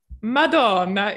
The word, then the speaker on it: Madonna: Madonna. Yeah. It's important to pronounce Madonna with an Italian accent.